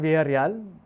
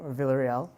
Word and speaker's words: Villarreal: a go uh so my name is Vel that's how you pronounce my last name Vel um I am a